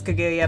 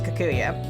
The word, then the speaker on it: Kaguya: haunted doll kikuya yeah supposed to be princess kaguya but it can't pronounce it because it's doll lips won't go that far and stuff so it comes out as kakuya very much like mary